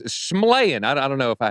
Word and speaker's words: Shyamalan: How do you say his last name, by the way? Shyamalan. Shyamalan. Oh, wow. Actually, yeah, it's Shyamalan.